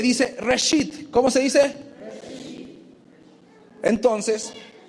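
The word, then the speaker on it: ראשית: Reshit.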